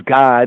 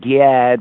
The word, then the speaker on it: Gad: or the B'nai Gad, we say as God, it's not like God because that's how it's said in the Hebrew, God. The English pronunciation is Gad, but really, that's a weird vowel right there, but it's God, right?